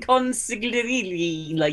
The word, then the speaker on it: consigliere: I was a fucking consigliere. That's the actual pronunciation.